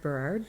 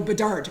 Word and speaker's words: Bedard: Conrad Berard. No, Bedard. Okay. Bedard, thank you.